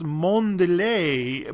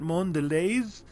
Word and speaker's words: Mondelez: It looks French. It looks Mondelez, but they pronounce it Mondelez.